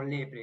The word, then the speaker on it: leprae: Se pronuncia como lepre en latín, porque la A no tiene sonido en ese caso.